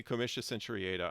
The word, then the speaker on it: comitia centuriata: When I say comitia centuriata, I'm using the traditional English pronunciation of Latin, which is different now.